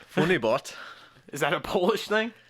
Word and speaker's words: FUNYBOHT: the OOTS in there there's an h a silent h bot funny bot is that a Polish